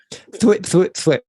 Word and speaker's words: thwip: Thwip. That is the pronunciation.